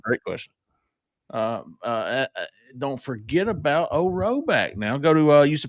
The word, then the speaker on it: Rhoback: Don't forget about Roback.